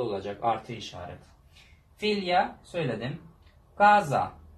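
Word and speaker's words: casa: Gaza. Mesela bakın C başta olduğu zaman ne oldu? K harfine dönüştü.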